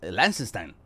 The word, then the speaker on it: Liechtenstein: Liechtenstein. Claro, porque eso no, es como ahí, como con ese acento alemán ahí.